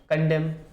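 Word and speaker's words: condemn: देना, कंडेम, क्या है, कंडेम। कंडेम बोलते समय एन साइलेंट रहता है, ध्यान रखना है, स्पेलिंग में कंफ्यूजन नहीं होना चाहिए।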